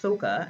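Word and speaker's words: Sokka: important to the story the avatar the last airbender movie also changed the pronunciation of the characters names so they'd be more realistic sako was pronounced soka and ang was pronounced on how why make the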